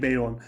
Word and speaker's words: Bayon: Bazı arkadaşlarımız Bayon'a neden Beyon diyorsun diye serzenişlerde bulunmuşlar. Arkadaşlar marka aracın okunuşunun Beyon olduğunu ve ısrarla Beyon dememizi vurguluyor.